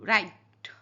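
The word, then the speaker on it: write: अब डब्ल्यू राइट राइट अब राइट में अब डब्ल्यू का साउंड यहां पे क्या है? साइलेंट है। तो please राइट your N name तो राइट यहां पे डब्ल्यू साइलेंट है।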